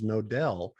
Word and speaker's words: Knodel: No, the reason my call sign is KN0DEL because my last name is Nodell, and it's spelled KNODEL.